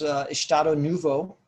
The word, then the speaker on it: Estado Novo: But because of this Estado Novo, actually I think is how it's pronounced, dictatorship, they sort of became insulated and they kept their own thing going.